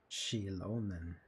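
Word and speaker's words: Xilonen: Shilonen. Alright. Correct. That's how we pronounce the her name.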